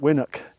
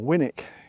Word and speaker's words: Winwick: abbreviated to win and so it became winwick so when Wick sounds silly but it probably is the right way of pronouncing it even though I'm pretty certain the locals probably called it winok or winick because it's easier to say so I'm not going